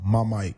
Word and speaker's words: Mymike: mic uh I know some people may uh Say Say My Name a little wrong but it's uh my Mike m y m i